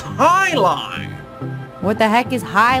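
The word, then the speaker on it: jai alai: What the heck is Jai? It's pronounced high lie.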